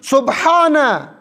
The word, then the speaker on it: سبحان: سبحان کہاں ہے؟ سبحان, درست تلفظ سبحان.